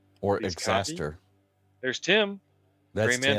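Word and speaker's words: Xastir: How do you pronounce Zaster? Is it X-Aster? I would call it, I call it Zaster. Or Please Exaster.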